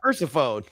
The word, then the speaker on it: Persephone: Yeah, Persephone.